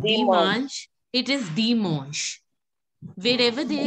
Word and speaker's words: dimanche: So it will be Dimanche. Dimanche. Okay. Arun Pandyan, can you say Dimanche? Dimanche. Yeah, Dimanche. A-N will be pronounced as on.